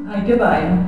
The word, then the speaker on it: Heike Beier: Allora, innanzitutto si scrive Heike Bayer, ma si pronuncia? Heike Bayer.